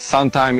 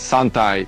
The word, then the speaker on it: santai: then you say it it's not suntime it's sunai It means relax and basically just Chill out you Indonesian I've been there many times Of course I know what sunai means It's not a